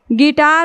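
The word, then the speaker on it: guitar: जी आई से गी ये यू हमारा क्या हो जा रहा है साइलेंट हो जा रहा है गिटार हो गया उसी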